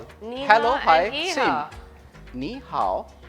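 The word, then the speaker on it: 你好: Like you can say ni hao.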